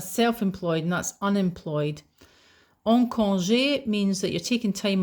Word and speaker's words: congé: Again the accent over the e tells you that it's a a sound. Congé.